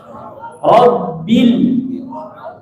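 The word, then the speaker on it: ربّ: Robbil bukan bel, bil. I suaranya bil, robbil, ya, i suaranya, jangan bel, i, bil, itu.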